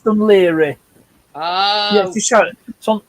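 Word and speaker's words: Dún Laoghaire: It's now called Dunleary. Dunleary. It's pronounced Dunleary.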